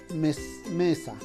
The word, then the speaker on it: mesa: Ya no diríamos mesa, sino mesa. Pero como nosotros no decimos mesa, entonces la sílaba tónica está en la me y la sílaba átona, está en la sa.